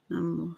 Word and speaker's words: Namo: The first part of Namo is short and rhymes with hum. Namo.